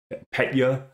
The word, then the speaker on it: Petya: There was Petya, I think that's how you say it, P-E-T-Y-A.